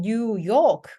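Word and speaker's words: New York: 그러니까 뉴욕 맞죠? 그래서 요크 뒤에. 그래서 이렇게 두 단어로 이루어져 있는 단어들은요. 뒤에 강세가 있습니다.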